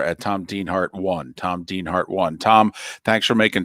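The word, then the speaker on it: Dienhart: stay safe too Tom Dean Hart and by the way Dean har spelled D n d i en pronounced as if it's two e but d i n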